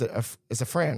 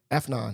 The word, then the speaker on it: Afnan: So one thing I want to think about now that you got the job, you and it's a Fran, right? How you pronounce the name? Afnan? Afnan.